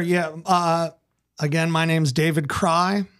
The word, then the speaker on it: Kraai: Again, my name's David Kraai. That's spelled Kraai. Sounds like cry.